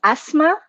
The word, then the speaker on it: Asmaa: what is i want to make sure i'm pronouncing your name correctly sure it's asthma thank you asthma great okay thank you for